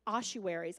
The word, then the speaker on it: ossuaries: families get buried together the boxes are called ossuaries I believe that is how you say that